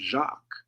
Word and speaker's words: Jacques: it was then, because like in French, James is Jacques. Oh yeah, that's You right. would think that's Jack or something, right? Right. It's Jacques.